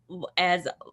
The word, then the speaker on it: Vanna: it's actually pronounced as Vanna. Vanna. Vanna, Okay. sorry. All right, Vanna. Thank you. Was your daughter really funny? She was. Okay, because she said it's Vanna like Nirvana, and don't forget it.